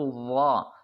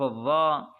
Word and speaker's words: الظاء: الظاء يعني حرف الظاءهم يجب ان تخرج لسان جنين عندما تريد ان تنطق حرف الظاء صحيحا بتلفظ صحيح فعليك ان تخرج لسانك يعني تخرج لسانك النكالنا اشكرك وبارك الله